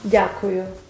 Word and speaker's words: дякую: Дякую. Дякую. Wow. Can you say? I don't think so. Дякую. What's the next syllable?